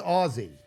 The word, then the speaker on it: Aussie: It's pronounced Aussie.